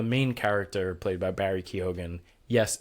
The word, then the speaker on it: Keoghan: Like the main character played by Barry Keoghan. Yes, it's pronounced Keoghan, and we confirmed this.